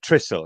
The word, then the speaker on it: Trysil: When Bex went to Trysil, and is that pronunciation correct?